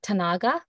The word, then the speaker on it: Tanaga: Some people pronounce this Tanaga or just other different pronunciations. I pronounce it Tanaga.